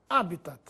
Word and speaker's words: habitat: assim como habas Corpus habitat é uma palavra por isso não recebe acento gráfico mas se pronuncia como se fosse proparoxítona habitat ibero ibero é assim